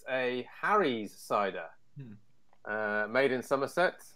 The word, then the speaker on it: Somerset: For our American compatriots here, Somerset is pronounced Somerset. Apologies to any of our Somerset based listeners for Jeff's comment there.